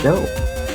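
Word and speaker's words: Chaud: Eugene Shawd. Pronounced show.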